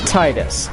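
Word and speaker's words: Tidus: name fetus in America so in America it's tightest now in Japan you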